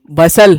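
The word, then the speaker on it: bustle: अब ये याद करते हैं तो ये है बसल, बसल बोलेंगे, यहाँ टी साइलेंट हो जाता है, ठीक है।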